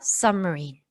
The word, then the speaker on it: submarine: 그래서 submarine 어떤 느낌인지 아시겠어요? 그래서 submarine 이렇게 marine에도 강세를 주는 게 아니라 세게 하는 게 아니라 submarine 이렇게 이 sub에 비해서 들리지 않을 정도로 약한 발음이라고 생각을 하시면 되겠습니다. 그 다음에 submarine에서 여기 장모음이기 때문에 submarine 이렇게 좀 길게 영어에서 장모음, 단모음 중요합니다. 뜻의 차이를 가져오기 때문에 가장 끝에 들어오는 이는 소리가 나지 않아요.